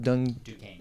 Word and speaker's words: Duquesne: Duquesne.